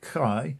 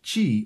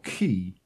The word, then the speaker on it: chi: chinese is outrageous first the pronunciation is different not like kai but chi or ki second neither modern nor